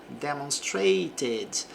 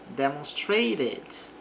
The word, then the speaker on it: demonstrated: Aqui nós pronunciamos o e do passado. Demonstrated. Posso dizer o T aqui com som de R. Demonstrated.